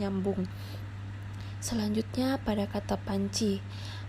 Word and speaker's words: panci: nyambung selanjutnya pada kata panci Panci di sini sama seperti pada kata janji sebelumnya jika pada pengucapannya itu ada seperti huruf y di antara n dan C selanjutnya ada kata